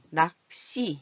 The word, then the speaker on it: 낚시: 낚시, 이거 씨로 소리가 나요.